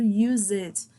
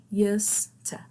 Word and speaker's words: used to: Eu escuto muita gente falando use it. Até professor também fala muito isso, mas vai ser used to. Used to. It's a little different, yeah. Pronunciation is a little bit different in this case.